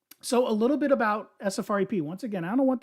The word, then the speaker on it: SFREP: The full name of our company, people try to say SREP. It's SFREP. It's not pronounceable.